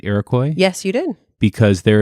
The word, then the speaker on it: Iroquois: fire of 1903 did I say that right Iroquois yes you did because there is a certain